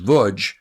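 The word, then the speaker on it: Łódź: called The Chronicle of the lodge LZ pronounced vud ghetto I always thought the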